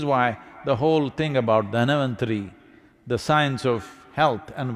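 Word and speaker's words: Dhanvantari: North Indian people must connect, don't go on clipping away one syllable and come Dhanavantari becomes Dhan, Trayodashi becomes Tera.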